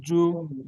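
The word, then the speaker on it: جُنَاح: আচ্ছা ওই এই ভাইজানের মতন করলে শোনেন শোনেন হাফেজহ আমি এইবার বলছি জিম জুনাহু শোনেন জিম পেশ জু এই বানান করার সময় তো আমাদের টানছেন যা এ টান হবে না ঠিকই পড়ছেন বানান জি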